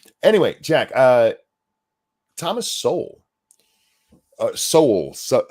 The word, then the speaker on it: Sowell: So I don't even know how you're supposed to pronounce it because I've been watching the internet and it's pronounced like 90 different ways. I think it's pronounced Soul. So that's how I've Soul Brothers. Yeah, that's how I've always heard it.